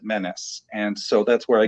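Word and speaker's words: Mennes: spelled the same way it's spelled m-e-n-n-e-s but we always pronounced it menace and so that's where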